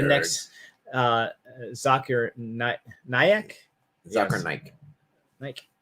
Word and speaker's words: Naik: Naik. Okay, you don't say the I there, huh? Naik?